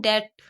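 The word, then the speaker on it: debt: The company is इन डेप्ट। भी silent होता है। यह डे बोला जाता है।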